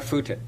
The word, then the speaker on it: Footit: Sarah Footit. Is that right? I've got a Scottish pronunciation. Whenever you put two O's together, I struggle with it.